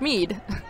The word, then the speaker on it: Schmiedt: on number 22 amber Schmiedt is how our PA announcer saying it's Mead the name have been